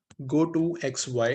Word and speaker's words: gotoxy: एक फंक्शन था हमारा गो टू एक्स वाई, जिसको हम प्रोनाउंस कर रहे हैं GOTOXY, गो टू एक्स वाई।